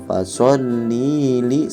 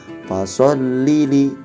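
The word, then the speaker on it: فَصَلِّ لِ: Selanjutnya pada ayat kedua perlu diperhatikan lagi nih, biasanya banyak sekali bacanya itu dipanjangkan. Fasholli li, bukan seperti itu. Beda ya antara fasholli li sama fasholli li. Nah, yang betul itu yang kedua.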